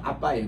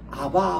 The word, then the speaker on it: 아빠: 되는데 그거 고쳐야 됩니다 원래이 발음은 원어에서 발음하는 그대로 쓰는게 원칙입니다 아빠 아버지 이러니까 옛날에 우리 번역하신 분들도 아 성경에 이것 또 아빠라 번역하면 좀 어색하니까 그래서 아바 아버지라고 이렇게 있거든요 우리 번역에 그게 아니고 아빠입니다 그냥 아빠 어 이거는